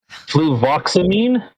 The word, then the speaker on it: fluvoxamine: Fluvoxamine?